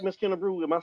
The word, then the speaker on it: Kennebruew: kerw me and uh Larry Frank am I pronouncing your last name right Miss kerw am I saying it right you perfect I